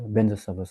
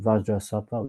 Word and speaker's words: Vajrasattva: Like that for Vajrasattva, they don't say Vajra Sattva Samaya. Yeah, they say another Benza Sattva Samaya Manapalaya. So yeah, so we I think because Lama should get Vajra Sattva, we say Vajrasattva.